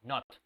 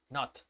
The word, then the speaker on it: not: Pero cuando es dentro de una palabra, se escucha como si fuera una O más cercana a una A, not, not, ¿ok? Not. Esa es la pronunciación, not. No me digan not, not no tiene nada que ver con not, ¿ok? Entonces, les recomiendo que lo hagan más parecido a una O, not, ¿ok?